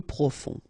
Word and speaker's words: profond: Final D not pronounced. Peu profond.